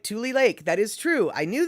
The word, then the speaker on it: Tule: yeah okay poppy shaney andre you are correct pronounced just like tule lake that is true i knew that it was